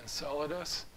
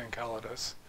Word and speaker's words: Enceladus: coming from somewhere yeah most people pronounce it enceladus but you know classical greece greek does not have a sea sound all the seas you see are supposed to be hard see so i'd say encaladus so it's like the